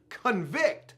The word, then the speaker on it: convict: was a patient and the word convict which also could be pronounced convict like getting convicted means a person found